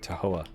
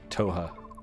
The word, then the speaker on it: Toha: he boarded the ship at tahoe toha not to hoha i put an extra syllable in there what are you doing